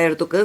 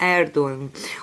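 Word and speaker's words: Erdoğan: O nome dele, a gente se fala Erdogan, mas se pronuncia Erdogan.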